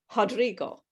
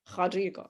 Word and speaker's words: Rodrigo: like a ha sound rodrigo now my portuguese is terrible okay so when that letter r is at the beginning of the word you don't pronounce it like an r you pronounce it it